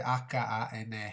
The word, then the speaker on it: hane: Io dico anè, si scrive H-A-N-E, Hane, Hane, ok?